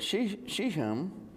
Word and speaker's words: Shechem: So Joseph's bones, which the Israelites had brought up from Egypt, were buried at Shechem.